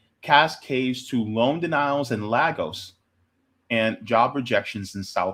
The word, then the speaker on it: Lagos: Is it Lagos or Legos? Legos. Anyways, because of that, because